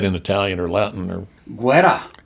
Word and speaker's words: guerra: Guerra. Guerra.